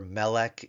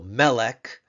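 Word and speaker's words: מֶלֶךְ: there but rather because its accent with that hash mark its accent is on the penal its tone syllable is the penal the second to last syllable on the meem Sego symbol so melik me with a Sego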